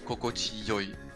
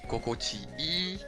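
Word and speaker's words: 心地よい: But in this sort of expression, people still sometimes pronounce kokochi yoi. Kokochiyoi. So here the two exists. You can see both actually. You can see kokochi ii and kokochi yoi.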